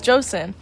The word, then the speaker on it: Joseon: My current country's name is spelt like chosen, but you pronounce it as Joseon.